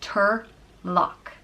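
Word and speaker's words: Toirdhealbhach: The next name is Turlock, and it means he who aids or assists, and it's pronounced Turlock.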